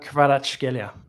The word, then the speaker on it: Kvaratskhelia: Kvaratskhelia. Very good. That's probably the best pronunciation here.